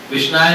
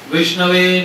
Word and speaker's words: विष्णवे: समझदार आदमी ने ठीक कराया है, नहीं ऐसे नहीं बोलते, विष्णाय नमः नहीं बोलते, विष्णवे नमः ऐसे बोलो, विष्णवे नमः सही उच्चारण ये है।